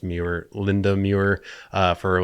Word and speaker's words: Muir: Robert Eggers comes to mind with that because he's used, I think her last name is pronounced Muir, Linda Muir, for like all of his costume design work.